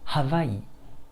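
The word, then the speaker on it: Hawaiʻi: Si on écrit le mot Hawaï dans sa version originale, eh bien on a... Vous voyez l'okina? Il est calé entre la syllabe Y et le I. Donc en prononçant le mot, ça donne Hawaï, Hawaï, Hawaï.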